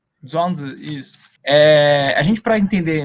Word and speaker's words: Zhuangzi: Eu não sei pronunciar o nome dele, Zhuangzi? Zhuangzi, isso.